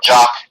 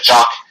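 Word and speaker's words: Jok: One player, though, that you really got to look out here is Peter Jock, or Jock. It's spelled J-O-K. I'm going to say Jock.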